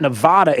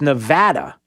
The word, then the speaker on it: Nevada: saying no no no it's not nevada it's nevada ah yeah like apple or actuary or uh again nevada like nevada yeah so all this